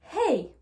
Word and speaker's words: hey: Pour rappel, la lettre H n'est pas une lettre muette en anglais. Donc, il faut la prononcer. Et pour la prononcer, vous allez tout simplement prendre votre respiration. Donc, je ne vais pas dire hello, hi, hey. Non, je vais dire hello, hi, hey. Vous voyez, je prends ma respiration pour pouvoir prononcer le H.